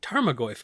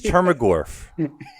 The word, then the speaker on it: Tarmogoyf: man pretty sure it's a me Trias it's pronounced tarmogoyf guys it's tarmogoyf get it right she was targum with some